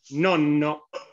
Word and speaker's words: nonno: Nonno. Bien, muy bien. Ven ahí que, ¿cómo dice Juan Pablo? Nonno. Y rápido, nonno. Se tiene que escuchar.